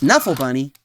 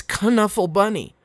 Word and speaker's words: Knuffle Bunny: actually it turns out i'm saying it wrong it's connuffle bunny there's a different girl